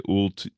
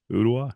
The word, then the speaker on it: Ooltewah: Yeah, people pronounce it wrong all the time. They say Ultiwa, Ultu, it's an Indian name. And but yeah, Ooltewah, Ooltewah.